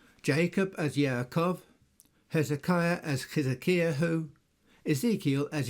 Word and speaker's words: Yaakov: Isaac, for example, is pronounced Yitzchak, Jacob as Yaakov, Hezekiah as Hezekiahu, Ezekiel as Yehezekel, and so on.